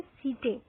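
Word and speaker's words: setae: ये हो गए हमारे सीटे, ठीक है। और सीटी भी बोलते हैं इसको, जिस तरह से आपको प्रोनाउंस करना है आप कर सकते हो।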